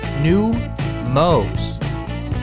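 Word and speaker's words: Neumos: in 2003 under its current name pronounced new Mo this spot has played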